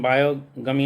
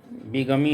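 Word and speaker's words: bigamy: Number two है विगमी इसका उच्चारण बायो गमी नहीं होता है विगमी होता है इसको पढ़ते हैं पगमी और मैट्रमनी।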